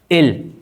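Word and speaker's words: אֵל: El primer nombre, el primer nombre que aparece acá, que es él. Se pronuncia así, él.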